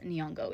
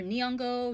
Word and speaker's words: Nyong'o: damn sure can't pronounce Nyong'o. It's not even that hard. Either Nyong'o, Nyongo, whatever. Like either of those are close enough to the original pronunciation that it's fine.